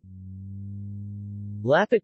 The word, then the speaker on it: Lampet: Lampet or Lapet, pronounced Lapet, is a typical and traditional Batak snack from Tapanuli, North Sumatra, Indonesia.